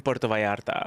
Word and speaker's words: Puerto Vallarta: And so I'll just say it's in Puerto Vallarta.